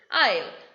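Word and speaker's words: aisle: not pronounced for example i'll the first word a i s l e s is coming before l so s is silent i now what is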